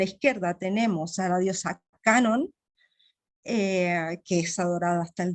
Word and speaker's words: Kannon: Y claro, Kannon es la forma de la diosa de la misericordia también, ¿no? Canon como la marca de cámaras fotográficas, ¿no? Lo mismo, Canon, solo que se pronuncia Canon, pero es ella misma, ¿no?